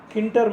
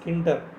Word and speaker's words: Tkinter: So here Kinter model, spelling is Tkinter, but we have to call it as Kinter. T is silent here.